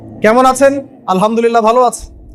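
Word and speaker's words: الحمد لله: আলহামদুলিল্লাহ ভালো আছে। তো আলহামদুলিল্লাহ না বলে সে বলেছে আলহামদুলিল্লাহ। তো যে হায়ের উচ্চারণ পরিবর্তন হয়ে গেছে, এই কারণে অর্থ পরিবর্তন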